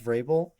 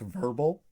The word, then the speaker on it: Vrabel: Like when they announced Mike Vrabel, uh the lady said Mike Verbal.